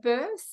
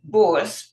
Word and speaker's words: Bource: the wonderful volunteer birth do I pronounce it births is that how you pronounce your surname one it's boss but you know fine